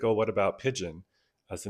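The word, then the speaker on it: Pidgeon: And then Eric is the one that suggested the spelling of it as opposed to Pigeon like the bird, it's Pigeon like the language.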